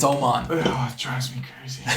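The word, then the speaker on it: Mattias Öhman: saying oh mod Oman it's spelled them on I know but it's Swedish it's Oman oh it drives me crazy I'll start saying Oman I guess but I've been saying I'm on when I'm watching on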